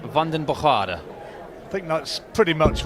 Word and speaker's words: Vandenbogaerde: mario from belgium Mario well what's the correct pronunciation let's get it exactly right well I've been told by my sources it's London bajada I think that's pretty much what he told